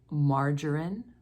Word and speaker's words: margarine: soft G instead these are words like margarine mortgage ER and jail in the middle of a word we would have veggies and suggest here's a sentence with